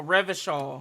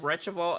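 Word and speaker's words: Revachol: fine city of Reva oh Reva okay I said retal L I've been saying it wrong the whole time um okay honestly I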